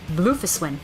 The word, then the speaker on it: Bufiswin: Oh, that's how you say her name, Bufiswin.